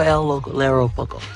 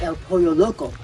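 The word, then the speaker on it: El Pollo Loco: She's So, she's working for El Lero Poko. I'm sorry. It's El Poyo Loco.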